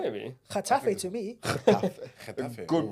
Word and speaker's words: Getafe: Getafe. Good Ooh.